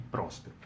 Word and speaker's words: Próspero: Mas aí no Pipoca e Nanquim eles falaram, não, essa é a pronúncia correta, Trócero e Próspero.